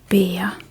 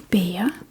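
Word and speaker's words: bære: There are many words with a r e va va bea. To carry bea b a r e bea to carry.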